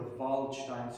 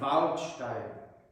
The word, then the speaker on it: Waldstein: She also taught me how to pronounce the bright ah in German. I said I was practicing the Waldstein Sonata by Beethoven, and she said, Nein, Waldstein.